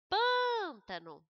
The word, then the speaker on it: pântano: Pântano, o pan é a sílaba pronunciada com mais intensidade.